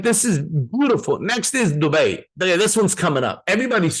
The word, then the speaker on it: Dubai: It is Dubai. Sorry, I love all of you. But how do I know it's Dubai? Because it's from there. Like, let's just be clear.